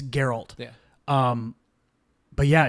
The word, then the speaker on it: Geralt: and girl are always she pronouncing in Harold I've only read it read it here's your alt Oh Jeff gift yeah it's Geralt yeah um but yeah it's interesting to see